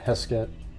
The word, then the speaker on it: Heskett: That's the case of, I think it'll be interesting though, but it's Doreen Heskett, I think is how her name is pronounced. Let me make sure. Yeah, Heskett from California, 1963.